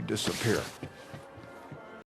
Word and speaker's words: disappear: Here, let's watch you disappear. Let's watch you disappear. Let's watch you disappear. Disappear is a verb. The stress is on P.